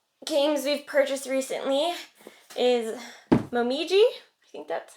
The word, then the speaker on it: Momiji: No, it's Japanese. No, it's definitely not Italian. You can tell I picked this game out and not Mitch. Momiji. That's the only way I'm like reading this in my head now. Right? I think that is how, not quite with that accent, but I think it's supposed to be pronounced Momiji. But in this game, this